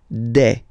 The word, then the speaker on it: des: Okay, and then the plural form, des. Alright, here, E-S, you pronounce it like E.